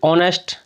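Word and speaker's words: honest: जो होता है वह वा से होता है उच्चारण वा की वजह से इसमें ए आएगा ऐसे ही ऑनेस्ट हालांकि इसमें यह एच जो है हमारा यह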